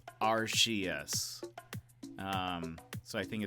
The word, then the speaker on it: Arceus: say Arceus our our Arceus or archaeus uh supposedly I've been well so I've been saying Arceus because in Japanese the announcer guy says RCs um so I think